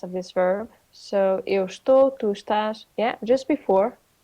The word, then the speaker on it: estou: In a informal conversation, okay, you will often hear eu tô. Okay. Não, eu estou. Eu estou. Sim. Eu estou, tu estás, ela tá. Okay, so we drop the first syllable.